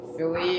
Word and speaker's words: Philip: Some people pronounce it as Philly or Philippe or whatever they call it. I don't know. I just pronounce it as Philip.